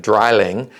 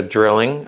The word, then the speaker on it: Drilling: saying it's a drilling it's also it's actually pronounced in german dryling because eins vi dry dry means three so this is we call it a drilling um and we would be wrong that's we